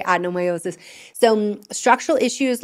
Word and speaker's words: adenomyosis: work for adnomiiosis or depending on where you are in the world you might say adenomiiosis which is how it's spelled so it kind of makes sense but in the United States we say adnomiiosis.